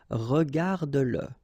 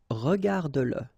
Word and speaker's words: regarde-le: Remember that if you've got, in some situations, the pronoun le, and if it comes after your verb, like in that case, then you will have to pronounce it. Okay, so regarde-le, regarde-le.